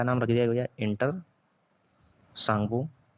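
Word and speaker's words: Tsangpo: Inter सांगो T silent है। जैसे सुनामी में टी साइलेंट होता है।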